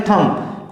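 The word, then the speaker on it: thumb: Next word है थंब, इसको लोग पढ़ते हैं थंब। क्या पढ़ते हैं, थंब पढ़ते हैं। ये थंब नहीं है, यह है थंब, THUM। B साइलेंट हो जाता है, बोलते समय B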